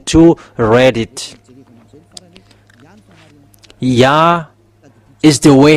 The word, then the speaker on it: Yah: So if we um read it together the result is y a h it's yah.